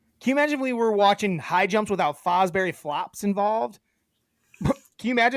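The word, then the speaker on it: Fosbury: His last name, Terra, is Fosberry. You've just been saying it wrong the whole time.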